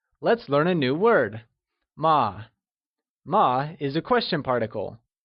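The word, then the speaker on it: 吗: As a question particle, ma is pronounced using a neutral tone, which carries a soft falling sound, as if the sound is fading away. Can you try and say ma?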